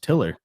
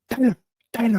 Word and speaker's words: Tiller: get my name wrong so my name's pronounced tiller but he would always be like Tyler how you doing Tyler